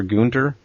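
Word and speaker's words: Günter: But for anybody who's listening and wants to try to play it, it's called The Quest for Gunter. It's actually Gunter is spelled G-U with an umlaut and N-T-E-R.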